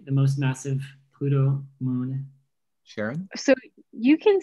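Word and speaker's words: Charon: was also named sharon so he made it the pronunciation to match her i have no idea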